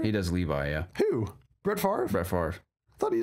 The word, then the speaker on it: Favre: Brett Favre. That's how you pronounce it.